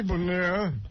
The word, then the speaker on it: Bonilla: Rico Brogna is going to bat for Bobby Bonilla. Vanilla, it's spelled, but it's Bonilla nonetheless. Holy Jesus.